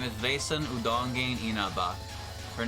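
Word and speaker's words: Udonge: Insanity are your job that's pronounced udong udong I'll leave this to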